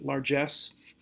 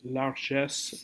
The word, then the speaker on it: largesse: This has a harder or a more forceful G sound. Excuse me, in English, largesse. The French would soften that a little bit, largesse, with a je sound